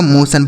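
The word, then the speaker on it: motion: कैसे अगला शब्द देखिए एम ओ टी आई ओ एन तो एम ओ से दोस्तों हो जाएगा आपका मो क्या हो गया मेरे दोस्त मो हो गया इस टी आई ओ एन का उच्चारण क्या हो जाएगा सन इस तरीके से सन पड़ेंगे यह लिखा गया आपका मोशन बड़े आराम से पढ़ पाएंगे मोशन ठीक है।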